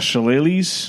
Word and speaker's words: Shillelaghs: Shillelaghs. Yes. You pronounced it actually great.